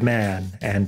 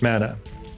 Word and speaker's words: manna: he had so much mana. It was rather his function, in the scheme of things, to serve as reservoir and transmitter of it. Coincidentally, another religious tradition has a homophonic term.